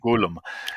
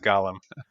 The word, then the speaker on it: Golem: Golem. So it doesn't Just to sound not like Lord of confuse the it Rings. with, The yes, precious. not Gollum. Don't pronounce it Gollum.